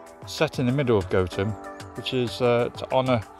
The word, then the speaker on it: Gotham: from village is pronounced gotem stemming from goat town the pronunciation gotham was adapted for batman so i've been saying it wrong all along it's goten we're not actually going